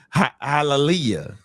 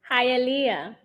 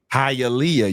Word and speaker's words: Hialeah: Hallelujah. How you say it? Hialeah. Hialeah.